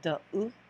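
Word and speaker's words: deux: So we don't pronounce the X in French, it's just there. As you can see, it has sort of a different kind of sound. So it's like So de, de.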